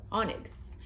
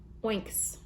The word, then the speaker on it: Onyx: A true story, when I was younger, I used to pronounce this word, oinks.